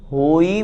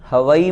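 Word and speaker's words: होइ: साथ में अंत में परमम होई मंगलम, हवई मंगलम नहीं। बहुत से लोग परमम हवई मंगलम इस तरह से बोलते हैं, अशुद्ध उच्चारण हो जाता है। हवई नहीं लिखा, होई।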